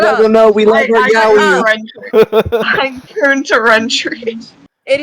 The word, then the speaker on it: yaoi: I'm doing a Trump yaoi impression. Guys, let me talk. Okay, wait. Some people pronounce it yoey. Wait, It's not yoey.